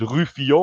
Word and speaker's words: Rufio: Is it Rufio or how do I pronounce it? You pronounce it French, it's Rufio, yeah.